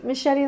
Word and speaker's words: Mascetti: It could be machete like the knife. That's the official name, but people Americanize it Italian? as Mascetti. Yeah. Oh, really? I prefer machete.